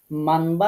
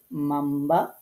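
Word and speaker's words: مَنْ بَخِلَ: আয়াতটিতে দেখুন, নুন সাকিনের পর বা অক্ষর থাকায় এখন এর উচ্চারণ মানবা না পড়ে গুন্না সহকারে মাম্বা পড়তে হবে।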